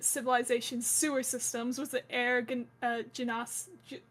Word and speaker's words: Genasi: The technologist, who cared about like new designs of lockpicks to like ancient civilization sewer systems, was the Genas, how do you say it? Genasi.